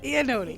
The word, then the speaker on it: Ionotti: Ionotti. Is Yeah. If you saw the spelling of her name versus the pronunciation, you'd understand why I'm always so cautious of it.